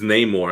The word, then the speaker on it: Namor: Namor? It's Namor. I always say it wrong.